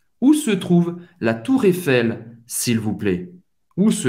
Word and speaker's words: Eiffel: Você vai pronunciar o L. Où se trouve la Tour Eiffel, s'il vous plaît?